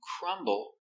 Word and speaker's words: crumble: When you break into pieces, when you make the crumbs, you crumble the cookie. Or you can say the cookie crumbles. We pronounce the b.